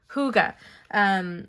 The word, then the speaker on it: Hygge: I've got to remember how to pronounce it. Hygge.